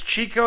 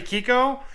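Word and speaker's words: Chicco: So most people pronounce this Chico. It's actually Kiko.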